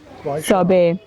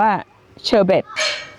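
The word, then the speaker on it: sorbet: ซอเบ นะ คะ อ ซอเบ บ้าน เรา ไป ออก เสียง ว่า เชอเบท มัน ไม่ ได้ ออก เสียง เชอเบท นะ คะ ทุก คน มัน ออก เสียง ซอเบ ค่ะ ไหน ครับ SH อื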